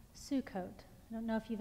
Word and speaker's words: Sukkot: about this story so the party is called Sukkot I don't know if you've ever heard the word before but now you'll know to look for it it's not spelled that way but the pronunciation is Sukkot and it means the festival of booths and